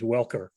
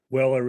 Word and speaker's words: Welker: Just a minor correction, the actual name is Welker. Weller is someone who lives out on Chequesset Road.